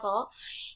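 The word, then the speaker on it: rho: jenis atau dilambangkan dengan huruf roll ini yang dibacanya roh yaitu rumusnya massa dibagi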